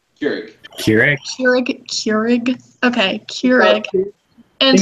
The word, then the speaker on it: Keurig: Keurig.